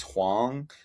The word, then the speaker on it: Hwang: I just pronounce it Wang, but my dad's Korean, which is where it comes from, and the Uh, Korean name is Hwang.